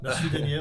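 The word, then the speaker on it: nasvidenje: Je vais essayer du moins comment ça se prononce. Mais merci, vous dites Fala Lepa. Fala Lepa. Fala Lepa, merci. Voilà. Fala Lepa. Nasvidenie, au revoir.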